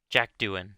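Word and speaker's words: Jack Doohan: uh Pierre gastley sorry 's the other oh Jack Duan that's how you pronounce his name this is Pierre gastley and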